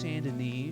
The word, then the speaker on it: Saint Denis: I know that's pronounced Saint Denis.